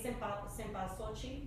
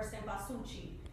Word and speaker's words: cempasúchil: In different communities could also have, say, cempasúchil or cempasúchil. It just depends on who you're working with or talking to.